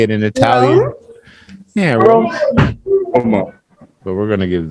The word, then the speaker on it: Rome: Rome. All right. So in English, it's Rome.